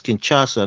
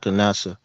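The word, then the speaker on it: Kinshasa: names so so funny it's kinasa not canasa yeah I have a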